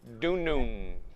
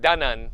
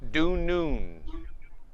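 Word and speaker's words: dunun: i would pronounce that du noon not dunnon like how it might look think of noon the word noon you know 12 p.m noon like when lunchtime and think due noon due noon so du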